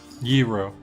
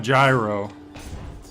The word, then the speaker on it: gyro: is a hero giro i know it's not gyro no i learned how to pronounce that because uh ween they have a song that kind of involves giro and they explain how to pronounce it well the way they